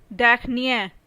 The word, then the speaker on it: dernier: Similarly, the word last also has two pronunciations. One masculine, another feminine. In case of masculine, it is dernier.